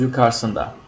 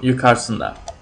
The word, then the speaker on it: yukarısında: But we usually don't pronounce the first U, so it becomes yukarısında. When we write it, it's always there, but when we pronounce it, it's a little faster, so yukarısında.